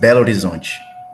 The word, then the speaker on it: Belo Horizonte: It's pronounced Belo Horizonte.